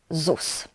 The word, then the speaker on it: ZUS: The abbreviation is pronounced like ZUS.